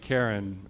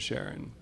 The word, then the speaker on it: Charon: Sharon and there are some people who like to pronounce it Karen instead of Sharon it seems to me mostly whatever your preference may be all right is it